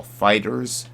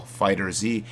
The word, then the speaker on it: FighterZ: also going to be talking about Dragon Ball Fighters Dragon Ball fighter Z however you guys want to pronounce it out there as well as games